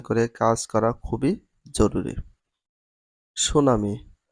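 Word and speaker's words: tsunami: সুনামি সুনামির স্পেলিংটা English হচ্ছে টি এস ইউ এন এম আই সুনামি। ঠির কোন উচ্চারণ হয় না।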